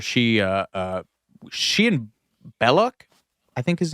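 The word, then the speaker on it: Belloq: it's pronounced because he's supposed to be French so it's supposed to be like it should be like Bel but they all just call him Bellic anyway cuz we're American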